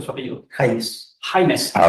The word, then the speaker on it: Jaimes: Sí, James, ¿cómo es que se pronuncia su apellido? James.